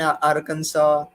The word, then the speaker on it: Arkansas: why that is so it turns out that Arkansas was a French colony and they have this weird pronunciations so Arkansas was based on in French word whereas Kansas was a British colony they had a different pronunciation so even though the